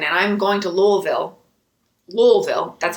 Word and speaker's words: Louisville: i'm in lexington and i'm going to louisville louisville that's how you say it on the one